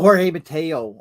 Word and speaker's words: Jorge Mateo: How do you pronounce his name? Is it Giorgio Mateo for Baltimore? Oh, Jorge Mateo. I guess it's Jorge Mateo.